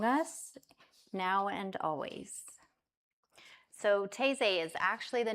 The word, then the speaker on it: Taizé: And if you were here last Sunday, I have learned how to say Taizé since then. So I think that's the correct pronunciation.